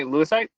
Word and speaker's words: Lewisite: Lewisite?